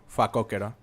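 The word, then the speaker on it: facóquero: The The way you say warthog in Spanish is fakokero.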